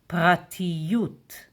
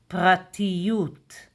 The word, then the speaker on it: פרטיות: How do we say privacy in Hebrew? And the word is pratiyut. Pratiyut. Pratiyut. Pratiyut. Private in Hebrew is prati. And privacy, pratiyut.